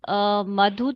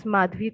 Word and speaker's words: Madhvi: Anita Tiwari, and other one is Madhu. I guess I pronounced the name correctly. Madhu, right, ma'am? Madhu, ma'am, are you there? Ma'am, it's Madhvi, actually.